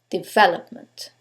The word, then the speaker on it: development: Here's a word with 4 syllables. Now, Let's decide which syllable takes the stress. Is it the first one, development? Is it the second one, development? The third one, development? Or the last syllable, development? In this case, it's the second syllable, development.